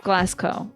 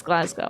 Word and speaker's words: Glasgow: Oh, did I say it wrong? Glas Glasgow instead of Glasco. I thought it was Glas Cow, but it's Glasgow.